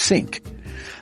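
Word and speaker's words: sinc: Instead, it uses a sophisticated mathematical function called sync interpolation pronounced sync.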